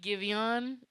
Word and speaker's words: Giveon: Low-key Giveon is how you pronounce it.